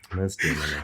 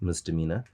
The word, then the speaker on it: misdemeanor: Firstly, it is pronounced misdemeanor, Okay. and that's because it is the feminine version of Mr. Demeanor, which is a man that does something wrong.